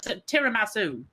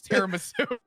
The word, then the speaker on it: tiramisu: Is that how it's actually pronounced? Yeah. Tiramasu. It's tiram. I'm Italian. What do you want from me? I'm also Italian. It's tiramisu.